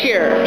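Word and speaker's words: Scherer: r e r and how do you pronounce that sheer sheer okay I used to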